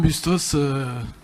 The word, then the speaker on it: Bustos: Merci, avec un S aussi comme Bustos. Qui se prononce évidemment.